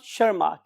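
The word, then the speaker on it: Tschermak: And still last scientist was Erich von Schermak, इस language में TS is silent. So Eric von शर्माक, इन 3 scientist ने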